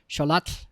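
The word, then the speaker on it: Xolotl: Sholat is how you say that in Aztec mythology.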